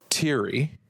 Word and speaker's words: Thierry: We got, now I believe this is pronounced Thierry. Mm-hmm.